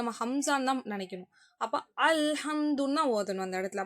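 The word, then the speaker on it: الحمد: அப்போ ஹம்சாவோட உச்சரிப்பு தான் கொடுக்கணும். அலிஃபுக்கும் ஹம்சாவுக்கும் ஒரே உச்சரிப்பு தான். நம்ம வந்து தொண்டையோட நடுப்பகுதியிலேருந்து எடுப்போம், ஆனால் மெல்லியதாக அந்த சவுண்டு வரும், சரிங்களா. அல்ஹம்து ஐன் சவுண்டு வராது. அல்ஹம்துன்னு சொல்லக்கூடாது. அல்ஹம்து அதே அந்த மாதிரி சவுண்டு. ஸோ அப்போ அலிஃப் வந்து வார்த்தையோட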